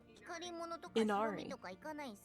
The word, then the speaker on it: Inari: Inari. According to the pronunciation from Google.